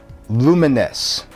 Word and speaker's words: Lumines: Number three, Lumines.